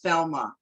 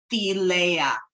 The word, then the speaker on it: Thelema: holy books of of Thelma, which is also known as Theleia, is how you're supposed to say it, Theleia.